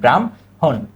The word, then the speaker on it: ব্রাহ্মণ: হবে কি ব্রাম ব্রাম যুক্ত বর্ণের ক্ষেত্রে আমরা মনে রাখবো যে যে শব্দটা আগে যে বর্ণটা আগে ওটা কিন্তু আগে উচ্চারণ হয় এই ম আর হ এর মধ্যে আগে কোনটা ম আগে কোনটা ম কিন্তু আগে উচ্চারণ হইছে ব্রাম হন ব্রাম হন তাহলে আমরা কি কি শব্দ দেখলাম?